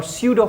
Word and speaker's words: pseudo: as fictitious force or pseudo force or accelerated force. Okay, so now let's talk about a little about fictitious force also here. Fictitious or pseudo, here P is silent, just remember this thing, force.